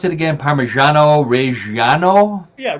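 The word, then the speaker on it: Reggiano: Yes, but how do I pronounce it again? Parmesano. Reano. Yeah, Reano.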